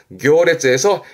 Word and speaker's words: 行列: 행렬이지요. 발음이 특이합니다. 교레즈에서 행자 발음이 교로 되는 케이스라 시험 때 자주 보입니다. 행렬의 교레즈.